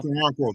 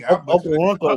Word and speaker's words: Okoronkwo: Justin Okoronkwo, how you pronounce it, Ty? Ty Okoronkwo. Okoronkwo. Hey, Okoronkwo, man.